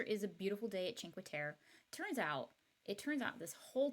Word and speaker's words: Cinque Terre: It's the picture is a beautiful day at Cinque Terre. It turns out this whole time I've been pronouncing it like it's French, Cinque Terre, but it's in Italy.